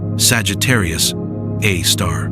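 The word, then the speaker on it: Sagittarius A*: Its name is Sagittarius A asterisk pronounced Sagittarius A star.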